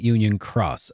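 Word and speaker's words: Union χ: In this case, it is pronounced like cross. Okay. So it was Key and now they're calling it Union Cross.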